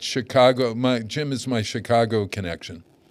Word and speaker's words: Chicago: It's soft C. Chicago. Chicago. The second C is.